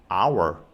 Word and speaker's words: hour: 와야 할 것 같지만 실제로 발음해보면 h는 묵음이죠 그래서 our IO 중에 첫 번째로